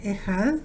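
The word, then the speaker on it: אחד: Pero lo interesante es que esta palabra hebrea, Ejad, que se escribe Echad, Ejad, para decir uno, también tiene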